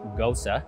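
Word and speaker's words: Gose: our take on a ghosta so it's spelled g-o-s-e but pronounced gosa it's actually a german-style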